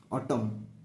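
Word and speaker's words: autumn: ঋতু অটম season ঠিক and silent অটম pronounce করিব অটম next হেমন্ত ঋতু আমি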